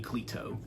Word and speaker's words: Cleto: I believe the pronunciation on her name is Cleto. Lady Cleto is the pronunciation there.